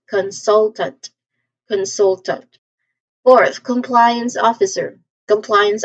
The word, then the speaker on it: consultant: So you emphasize in the second syllable again. So you say this as consultant.